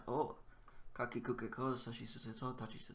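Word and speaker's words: を: You can't say war, sort of. You can emphasize the W, but it's mostly just the oh. Usually pronounced O.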